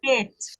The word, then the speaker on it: Het: het. This Kate, is yes. het. Okay. Shit. Het. No, Het. say the T.